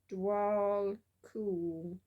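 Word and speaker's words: Djwhal Khul: It tells you how to pronounce it. That's useful. Dwal Kul.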